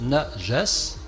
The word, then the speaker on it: najas: Parce que ce mot najas, le voici, ça se prononce najas, N-A-J-A-S, et ça a été traduit par impureté.